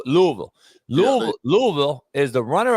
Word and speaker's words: Louisville: D let me ask you Louisville and it's pronounced Louisville okay so L Louisville Lou Louisville is the runner up to Duke